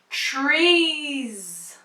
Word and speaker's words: trees: In this word, the letter S at the end is pronounced as Z. Trees.